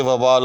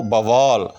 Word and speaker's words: وبال: ہوگی جہالت کی مثال، اس کو کہتے تھے وبال اب ہو گیا ہے وہ بوال۔ ہاں تو یہ ایسے کم ہے لیکن ہے، میں نے خود سنا ہے کہ لوگ وبال کو جو ہے وہ بوال کہہ دیتے ہیں، تو یہ بھی غلط ہے۔ ایسے لوگ بھی ہیں